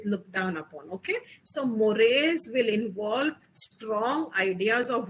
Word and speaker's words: mores: what are morris see this is written as morse but the pronunciation is mores okay mores are related